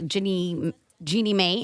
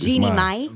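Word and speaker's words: Jeannie Mai: Your new girlfriend is for the real co-host Jeannie Mae. Am I pronouncing her name correctly? No, you're not. Is it It's Jeannie mine.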